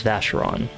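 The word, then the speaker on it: Vashyron: Name is Vasheron. That's how you pronounce his name.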